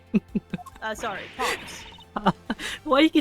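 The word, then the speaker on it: Paups: And her name is Lauren Paps. Sorry, Pops.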